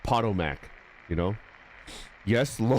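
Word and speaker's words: Potomac: Wait, is it pronounced PTOAC? I've been calling it the POTMAC my entire life. Have people been laughing at me? Ha, idiot. This is the PTOAC, I like Pottomac, you know.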